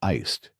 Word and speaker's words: iced: But in English, you should say iced with a d sound at the end. That's right. Iced americano, not ice americano.